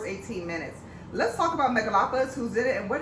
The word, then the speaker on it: Megalopolis: Megalopolis.